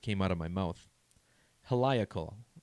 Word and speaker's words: heliacal: 23rd freemasonry honors the heliacal or helical rising of sirius i knew i was going to mispronounce that word the first time it came out of my mouth heliacal i think is right and there's a lot